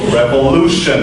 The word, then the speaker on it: revolution: it's revolution or revolution revolution that's the right way when you have olu you pronounce it blue like that okay what about the